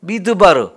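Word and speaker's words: מדבר: 말씀이란 단어 앞에다가 미라고 하는 글자 하나를 추가해서 미드바르 이렇게 발음을 하는데요 그 무슨 뜻이냐면 말씀이 있는 곳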